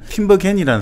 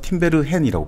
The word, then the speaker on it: 팀베르헨: 이 사람 스승이 누구냐면 팀버겐이라는 사람도 있는데 요즘 발음 보니까 니콜라스 팀베르헨이라고 부르거든요.